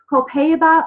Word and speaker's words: Copaiba: Copaiba is how it's pronounced, is one of our newer oils, so it's just been added to this mix.